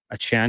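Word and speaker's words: Achane: uh Devon a Chan a Chan is a pronunciation we're going with because he did correct the media yeah he said it's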